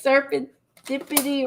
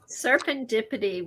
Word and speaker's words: serendipity: Was I saying serpentipity wrong? Serendipity, when an octopus tickles your toes.